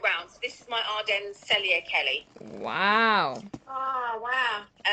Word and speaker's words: Ardennes: Can you just repeat the name of the leather and spell it for us? This is Ardennes, which is Ardennes.